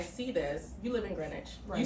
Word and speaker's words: Greenwich: Friday when I see this you live in Greenwich you say it right you have blonde hair